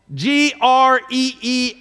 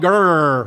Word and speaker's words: Greer: Upstate South Carolina, they have a place on the map that's called G-R-E-E-R. You would look at it and say Greer, but that's not how you say it. It's called Grr, right?